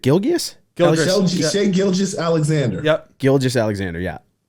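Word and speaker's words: Gilgeous-Alexander: All right, I'm gonna try my best to pronounce this one. Shea, is it Gilgeous? Shea Gilgeous Alexander. Yep. Gilgeous Alexander, yeah.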